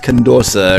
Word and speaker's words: Condorcet: which modification of the condorcet method it is it doesn't matter and also i'm pronouncing that wrong it's condosa or something damn french anyway uh